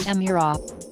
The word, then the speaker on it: Emira: the arrival of a family of new vehicles pronounced emirate the word features in numerous ancient languages and